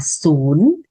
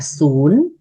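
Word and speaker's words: ສູນ: Không tiếng Lào nói là sún. Không là sún.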